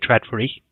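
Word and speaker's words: Trådfri: then added in IKEA red furry yeah that's how you pronounce it and terrible experience with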